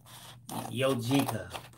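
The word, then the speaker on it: Jozica: The chat, remember, she spelled the name like J-O-Z. I-C-A, right? Like it's Jozika. She says it's impossible to explain the pronunciation. And it's this, Tracy, look. Jozika. Mm. They should spell it like that. I would have never guessed.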